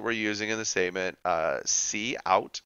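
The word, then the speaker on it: cout: using in the statement see out it's how you pronounce that so console out is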